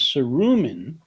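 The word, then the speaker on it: Saruman: beautiful agrarian place and it is cerumen who brings and i will defend that pronunciation uh it is roman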